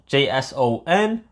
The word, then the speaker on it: JSON: But this in fact is called JSON, JS O N, but pronounced JSON.